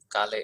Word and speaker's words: Kale: which is my name, Kale. is, and Kale is pronounced as the vegetable kale in English.